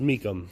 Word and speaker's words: Mecham: It's pronounced Meachem, which is very odd because it's not spelled that way, but okay. So we'll call it the Meachem, number 12.